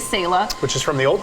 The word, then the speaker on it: Selah: people are kind of like go back and forth with how to say it. It is Selah.